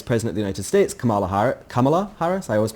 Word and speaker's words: Kamala: of the Vice President of the United States, Kamala Harris? I always mispronounce that name. Kamala.